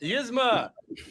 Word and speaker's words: Yzma: Can you pronounce this for me? Gizmo. Yzma.